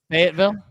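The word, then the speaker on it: Fayetteville: What's the pronunciation of that? Fatville.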